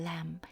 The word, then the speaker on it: lamb: 무엇을 offer 드리냐 하면은요 on hill lamb 여러분 이런 단어 못 보셨죠? 네 일단 램에서 비는 묵음입니다.